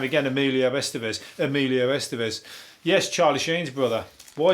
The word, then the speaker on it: Emilio Estevez: were funny as that's when emilia estevez was doing the doing the rounds top of